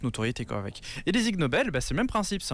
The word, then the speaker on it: Ig Nobel: Ig c'est comme ignoble, et les Nobel c'est une des justement, voilà, c'est prix Nobel, c'est une des plus grosses certifications scientifiques qu'on peut avoir.